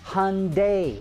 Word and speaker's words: Hyundai: name of Hyundai properly the company's name is pronounced hunday like Sunday for some reason you and many other Detroit Automotive reporters in insist on pronouncing it Hyundai please get it right